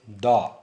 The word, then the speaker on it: the: And if it precedes a word beginning with a consonant sound, we pronounce it as da, as in case of the sun.